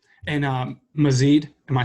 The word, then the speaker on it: Mazeed: And Mazid, am I saying that right? Yes, that is the correct.